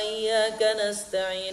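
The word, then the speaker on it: إِيَّاكَ نَسْتَعِينُ: ya kalau kita jeroannya tidak masalah ini beda membacanya kalian buang PESEdit Iya ke menjadi iya iya karena budu wa iyya kanastain ini untuk melayani iyyaka nabudu wa iyyaka nasta'in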